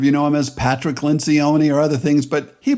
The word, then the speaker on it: Lencioni: broadcasting an interview the interview is with Patrick Lynch Oni some of you know him as Patrick Lencioni or other things but he pronounces it Lynch Oni so I'm going to go with his interpretation